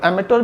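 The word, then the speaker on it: amateur: तो जो एक वर्ड और दिखाई पड़ रहा होगा, आपने वन वर्ड में काफ़ी पढ़ा होगा, एमेटर। एमेटर भी कह सकते हैं, एमेचर भी आप इसको प्रोनाउंस कर सकते हैं।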